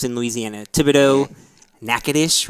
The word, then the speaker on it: Natchitoches: Thibodeau, Natchitoches, right? Natchitoches. Even though it's not spelled like that at all.